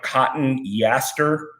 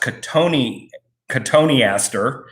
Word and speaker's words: cotoneaster: And cotoneaster looks like cotton yaster with one T, like C-O-T-O-N, and then almost Easter, but it's pronounced cotoneaster.